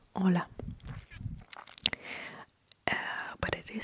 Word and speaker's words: hola: It is hola hola. Uh but it is spelled h o l a l e uh why why because h is silent.